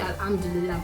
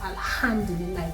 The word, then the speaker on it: Alhamdulillah: In Arabic, there are some words that have the H factor and you have to pronounce it, like Alhamdulillah. Alhamdulillah is not most people say Alhamdulillah, but it's Alhamdulillah.